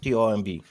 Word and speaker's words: tomb: So you have, for example, word tomb, yeah? T-O-M-B. Yeah. Yeah, tomb. The B is silent.